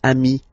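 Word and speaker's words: amis: But then technically you pronounce it the same way. So singular form amii plural form you add this s but it's amii as well.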